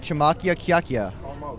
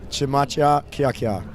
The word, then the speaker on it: Chmachyakyakya: I've been practicing this, so Chmachyakyakya. Chmachyakyakya.